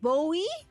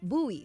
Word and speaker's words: buoy: then you go down I said Bowie station said no no no buo buoy right buoy okay I was like you I kept mispronouncing we like buoy oh